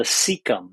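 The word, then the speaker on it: cecum: little pouchy area in your colon called the seeum that's spelled ceu m most of our gut bacteria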